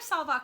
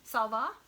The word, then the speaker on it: salwar: I would wear salwar kameez. I don't think I would wear saris. Sorry, I'm not going to pronounce this. How do you say the first one? Salwar.